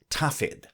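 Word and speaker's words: Dafydd: welsh folks in speaking of their good teacher pronounced his name tafid and affectionately taffy and this came to be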